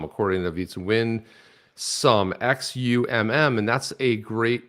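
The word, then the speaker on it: Xumm: know this is on wall we talk about zom you know um it's actually pronounced some according to beats win sum x-u-m-m and that's a great it's a phenomenal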